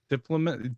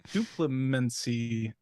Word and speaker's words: Duplimancy: It's gonna be enchantment called Vesuvian Diplomat. Did you give me this one? What? She can't even read. Vesuvian Duplimancy.